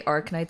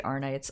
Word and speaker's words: Arknights: Some people say Arknights, some people say Arnights. I just say Arnights.